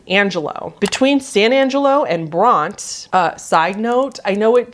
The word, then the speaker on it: Bronte: between san angelo and bronte side note i know it just looks like it should be pronounced bronte but i have heard every texan calls it bront just like one syllable so i'm gonna call